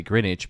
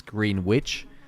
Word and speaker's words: Greenwich: greenwich it's you know we say greenwich but when you read it it's green witch or lester leicester leicester